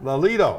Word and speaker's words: Lelito: the information on the tim lelato i always pronounce that wrong too lolita lolito there you go lolito foundation and she'll be